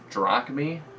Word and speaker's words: drachmae: This whole time, somehow I just had mispronounced it throughout my entire life. In books, in historical books, in class. I've been pronouncing it drachma. It's apparently drachmae.